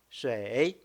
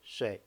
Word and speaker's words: 水: You see, they will raise up their voice. In the final part, they'll raise it up. But in the southern part of China, for example, Taiwan, we pronounce it so quick, so we just cut it short.